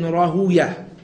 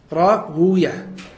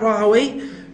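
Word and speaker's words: Rahwayh: Some of them say that, you know, you pronounce it Ishaq ibn Rahuya and not Rahaway, because of the fact that the word way is said to be a name from amongst the names of shaitan.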